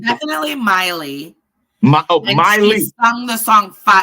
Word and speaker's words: Miley: But Marley, what's the name? Marley Cyrus? How do you pronounce her name? Definitely Miley.